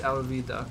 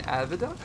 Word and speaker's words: Alvida: iron maze alvida I I've been calling Avida and I know her name is alvida I'm I'm a one-piece fan I know this uh information but I've been saying her name wrong regardless because I've gone so